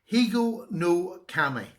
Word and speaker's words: Higonokami: It's in my series of peasant knives, and it's another one that I've got now to add to it, and it's a Higonokami.